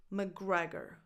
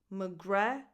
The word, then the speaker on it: McGregor: McGregor, McGre. So don't think about that C. It's just like McGre. So an M, a schwa, McGre, and a double G. McGregor.